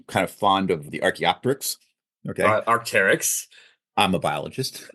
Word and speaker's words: Arc'teryx: So my shirts, I really am kind of fond of the Arc'teryx. Okay, Arc'teryx. I'm a biologist, and it Yep. looks a lot like an Arc'teryx. It's Arc'teryx.